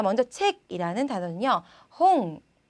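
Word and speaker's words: 本: 자 먼저 책이라는 단어는요 홍, 자, 홍도 아니고 홈도 아니고 혼도 아니죠.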